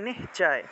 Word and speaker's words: নিশ্চয়: আছে তাহলে এই শব্দটা এই শব্দটাকে যদি আমরা সন্ধি বিচ্ছেদ করি তাহলে উচ্চারণটা হবে নিশ্চয় নিশ্চয় এইভাবে উচ্চারণটা হয়ে থাকে নিশ্চয় কারণ তালবস আমরা